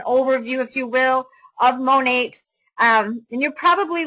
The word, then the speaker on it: MONAT: Um, when we talk about this company, who we are, who is Monate, and it's pronounced Monate from the two words modern and nature.